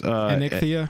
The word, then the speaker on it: Anikthea: Angel, the commander right now is how's it pronounced? It's Anikthea. And Anikthea.